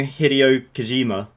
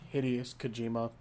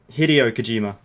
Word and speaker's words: Hideo Kojima: literally a fucking young Hideo Kojima. What? Hideous Kojima. Hideo Kojima. You know that guy who did Metal Gear? I know who Hideo Kojima is. Yeah. I'm making fun of the fact that you pronounce it like that. I ain't gonna fuck up how it's pronounced. Hideous Hideo.